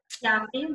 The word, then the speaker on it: Yoffee: Introducing, I'm gonna Yoffee, pronounce it right? Yoffee, but it's all good.